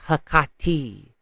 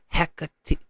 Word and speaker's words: Hecate: But it's actually pronounced Hecate or Hecate.